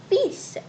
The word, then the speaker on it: fils: We know that son is fils in French. And I have told you that here this L is not pronounced. Do keep this in your mind. If you say fils, then it's wrong.